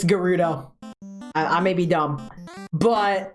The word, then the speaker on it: Gerudo: get into gudo town for the longest time I thought it was pronounced Gerudo kind of like how you pronounce it gif so uh yeah it's gudo I may be dumb